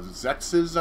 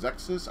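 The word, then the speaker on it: Xexex: games you had uh zexes i think it's called it's x-e-x-e-x i think it's pronounced zexus i could be wrong you had um god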